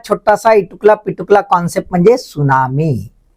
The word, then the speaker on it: tsunami: इटकला पिटुकला concept म्हणजे सुनामी ना spelling पहा तुम्ही कस लिहिला जाते टी एस य एन एम आय त हा सायलेंट आहे तर सुनामी काय आहे